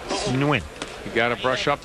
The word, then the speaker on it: Nguyen: It's Nguyen.